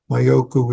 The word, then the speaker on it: Mayoku: The rest of practice is Mayoku, also known in Chinese as Magu. Mayoku is the way you pronounce his name in Sino-Japanese.